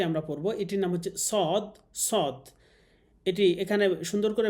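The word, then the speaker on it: صاد: রব্বিলমালমা রব্বিশলি সর্বপ্রথম যে হরফটি আমরা পড়ব এটির নাম হচ্ছে সদ সদ।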